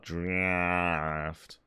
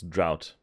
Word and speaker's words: drought: okay they misspell it it's not draft it's drought i i just won't